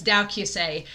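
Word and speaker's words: 同級生: it's translated to classmates but in japanese it's dow kyusei and so uh when i had my old channel i actually reviewed dowky say the movie and so the link to it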